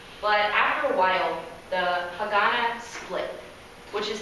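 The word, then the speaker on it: Haganah: They were called Hagana, spelled H-A-G-A-N-A.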